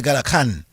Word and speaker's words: Gadakan: I just wanted to get that information out, so that people can know that Gadaka, we normally say Gadakan. Yeah, Gadakan. It's spelled Gaddarkhn. All right, so it's Gadakan.